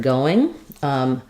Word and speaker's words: going: So letter G is just part of the ng sound in this word.